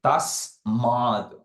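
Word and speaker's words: tasmāt: Like if you see T-A-S-M-A-T, above the A, you see one line. That means you have to extend it when you pronounce. So you don't see tasmad, we see tasmad. That A, you have to prolong it a bit.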